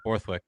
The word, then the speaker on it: Borthwick: Uh yeah, Borthwick, pronounced it right.